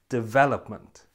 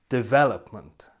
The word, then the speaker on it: development: you can see here the stress is again on the second syllable so it sounds like this development development and you hear that